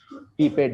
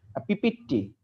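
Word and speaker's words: pipette: পিপেট দিয়ে নিব। পিপেট দিয়ে নিব, হ্যাঁ পিপেট। এটা উচ্চারণটা সুন্দর মতো করবে। আবার অনেকে বলে যে পিপিটি, ঠিক আছে, এই পিপিটি না, কিন্তু এটা পিপেট। কি মন থাকবে তো?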